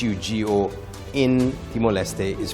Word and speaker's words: Hugo: So, uh, H U G O in Timoe is pronounced as Ugo.